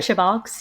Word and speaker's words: CheBogz: CheBogz, yeah.